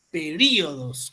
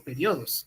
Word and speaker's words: períodos: Períodos, correcto, se dice períodos, no periodos, ¿eh? Períodos.